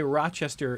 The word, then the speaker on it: Rochester: like Rochesterians say Rochester in like a syllable and a half.